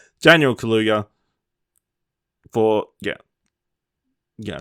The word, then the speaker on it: Kaluuya: The nominees are Sacha Baron Cohen for The Trial of Chicago 7, Daniel Kaluuya for...